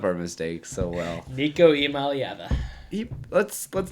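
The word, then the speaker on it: Iamaleava: How do you pronounce his name? I am. Imaliava. Beautiful. This guy, I mean, he just covers up our mistakes so well. Nico Imaliava.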